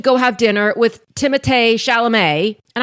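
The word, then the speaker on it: Timothée Chalamet: with timate shalam and I hope I said that right because I recently heard that that is actually I think how you pronounce his name and I've been calling him Timothy for all this time so sorry and I'm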